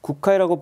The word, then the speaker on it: 구카이: 그러니까 일본 불교 이꼴 이제 헌법 대사 이렇게 되는 건데 국회이라고 발음하는데 이분이 이제 84년도에 이제 태양벌이 만들었던 체카이거 감독이 메가폰을 잡은 영화가 있어요.